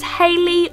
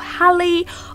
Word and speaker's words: Halley: The third name is Halley or Halley. I would say Halley, but you can pronounce it whichever way you want.